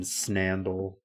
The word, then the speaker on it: Snandle: No, it's it rhymes with Let me spell it. Snandle. Like sandal but with an N. Snandle.